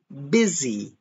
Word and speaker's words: busy: So even though busy is spelt with a U, we pronounce it I, busy. Can you say busy? And also the S is pronounced like a Z.